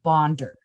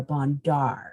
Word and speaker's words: Bondar: say her name oh it's Roberta bonder not Roberta bondar as every okay noted